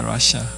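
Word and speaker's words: רשע: 이 악인이라는 단어는 러시아입니다. 러시아. 좀 비슷하지 않으세요? 지금 그 나라하고. 뭐 물론 스펠은 다르겠지만 이게 러시아 이렇게 돼 있어요.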